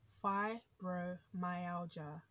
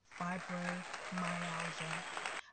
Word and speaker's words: fibromyalgia: happen out of nowhere so how is it pronounced fibromyalgia and it's spelt f i b r o m y a l g i a fibromyalgia know a lot of people um even people